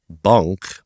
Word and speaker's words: bunq: in the Netherlands called bunk that's spelled bu u n q and specifically uh of